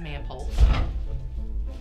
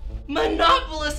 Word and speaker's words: Manopolous: nightmare you seem tense mrs manpoles monopolist it's monopolist it's not that difficult to pronounce and yes yes i'm